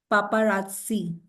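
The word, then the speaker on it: paparazzi: a French word yes पापा राजसी ठीक है द प्रोनंसिएशन इ पापा राजसी ओके नेक्स्ट वर्ड वी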